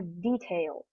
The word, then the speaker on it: detail: explain that in more detail and here the stress is on the first syllable detail not detail okay so this phrase